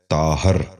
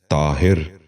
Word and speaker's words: طاہر: غور سے سنیے، طالب۔ دوسرا لفظ ہے طاہر۔ یہ غلط تلفظ ہے۔ درست تلفظ ہے طاہر۔ دوبارہ سنیے، طاہر۔ بچوں